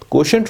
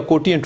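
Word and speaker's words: quotient: कोशेंट rule या कोटिएंट rule, आप इसे जैसे भी प्रोनाउंस करें।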